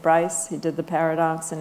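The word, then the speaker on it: Braess: You called it's B-R-A-E-S-S, how do you say it? It's actually a friend of mine. He's a German mathematician, Dietrich Bryce.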